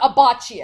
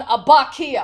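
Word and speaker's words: Abbacchio: Leon like uh Leon a bocce Oh apparently that is wrong it is actually more su carro and Leon Ibaka oh so the H is silent I don't know if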